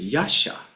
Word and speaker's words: Yasha: You remember, let's see, Yaksha is Yasha in our pronunciation, and Gandharva is Kendappa.